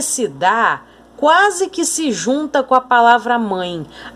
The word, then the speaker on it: dá: tênis dela sempre dar Olha como esse da é pronunciado com mais força então aqui ó e se dá com acento tem pronúncia forte agora sempre dá um